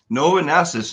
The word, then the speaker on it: Novonesis: Novonesis, new company, new name. You've pronounced it correctly, so thank you for that.